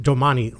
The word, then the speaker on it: Domane: Hey everyone, this is my Domane AL5 Gen 4, and I pronounce it Domane like the Italian word for tomorrow.